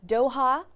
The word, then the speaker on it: Doha: So Gina, you were the hospitality events coordinator at the, let me see if I'm pronouncing this correctly, Doha, right, Tribeca Film Festival.